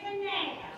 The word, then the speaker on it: Kanab: It's Kanab.